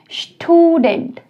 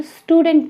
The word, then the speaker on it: Student: Student, बड़े ध्यान से सुनिए, मैं यहाँ पर स्टूडेंट नहीं कह रही हूँ, मैं कह रही हूँ Student। और लड़कियों के साथ मैं यूज़ कर रही हूँ Studentin, ठीक है। तो बिल्कुल आउस्प्राखा प्रोनाउंसिएशन का आप लोगों ने बिल्कुल ध्यान रखना है।